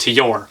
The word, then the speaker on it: Tyr: as an English speaker, it's spelled T Y R, which I think is tier. But I have a friend of mine on Facebook who posted a video of the band member saying it's pronounced to your.